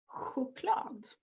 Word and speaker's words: choklad: CH. This is also pronounced such as in the word choklad. We also sometimes spell a